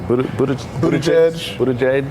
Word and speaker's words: Buttigieg: I can't pronounce it. Is it Buttigieg? Buttigieg.